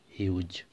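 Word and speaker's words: Hughes: উচ্চারণ ঠিকঠাকভাবে করবে, উচ্চারণ এবং স্পেলিং এখানে কিন্তু একটু ডিফারেন্ট আছে। স্পেলিং হবে ল্যাংস্টন হিউজ, ল্যাংস্টন হিউজ। এবং লেখার সময় অবশ্যই দেখো এইচ ইউ জি ই এস আছে, উচ্চারণ কেমন হবে, হিউজ।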